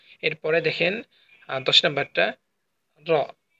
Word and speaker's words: ر: একটা ছোট্ট একটা উঁচু জায়গা আছে, সেই মূর্ধা থেকে জিহ্বার আগা একসাথে লেগে র উচ্চারিত হয়।